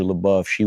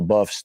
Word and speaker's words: LaBeoufs: So the LaBeoufs, the Labeoufs, the weird spelling, we all grew up. L-A-B, because we got beef in L.A. You spell it L.A. beef.